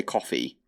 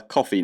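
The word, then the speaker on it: Ko-fi: set up a coffee I think that's how you're supposed to pronounce it cof Kofi coffee it looks like a coffee mug so I'm going to say coffee but I was wrong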